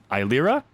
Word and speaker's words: Eilira: Yes, I know I said E. That's just how I've always said it to myself. Okay. So that's how I'm pronouncing it, even though it's Eilira.